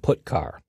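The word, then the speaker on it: putchar: character io functions are get car and put car that's how I pronounce them get car fetches a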